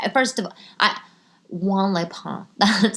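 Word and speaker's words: Juan-les-Pins: know like I mean like first of i w Leon that's how you say it it's it's like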